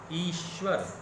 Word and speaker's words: ईश्वर: हैं, परमात्मा है क्या, ईश्वर, दीर्घ ई, ईश्वर, उसमें हम लोग क्या करते हैं, ईश्वर, हर्ष ई का उच्चारण करते हैं।